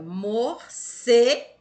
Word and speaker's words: morcego: que ela está acentuada vamos lá para a palavra morcego nem acontecer silvia morcego deu para perceber que o certo quando a gente pronuncia ele se torna mais forte do que as outras sílabas então a passa a sílaba tônica da palavra morcego e é cê tá vendo